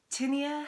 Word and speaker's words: Tinnia: Indeed, for the story we should call her Tinnia, for it rhymes with linear, the start of which our story begins. Tinnia had a feisty spirit,